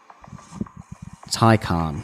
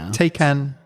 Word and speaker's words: Taycan: what it's actually yeah and how to pronounce it thai khan thai khan thai khan yeah taikan there we go so none of your